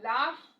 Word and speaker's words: laugh: first sound f sound so laugh l-a-u-g-h where g-h stands for sound then we have ph